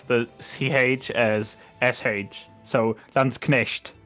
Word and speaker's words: Landsknecht: I'd say in modern German the pronunciation for that is Landsknecht, but you Yeah.